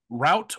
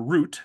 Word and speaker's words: Route: But for our last one for this half of the episode, we are going to end with Route or Route, depending on how you decide to pronounce it, 34, Big Pete gets a horrible summer job mowing the grass on Route 34.